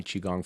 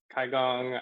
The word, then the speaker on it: Qigong: I think phonetically, in English, CHI is kind of a nice phonetic spelling because I usually pronounce it Qi.